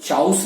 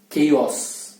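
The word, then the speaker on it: chaos: इसको चाउस नहीं बोलना है या च्योस भी नहीं बोलना है, तो इसको बोलना है केओस, केओस।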